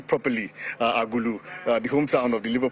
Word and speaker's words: Agulu: By the way, I had to do some rehearsal to make sure that I pronounce that name properly, Agulu, the hometown of the Labour Party presidential candidates.